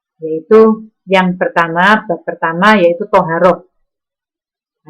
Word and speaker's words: Thaharah: yang pertama pertama yaitu thoharoh Hai semuanya tulisannya Thaharah membacanya adalah soha rok Apa itu thoharoh Hai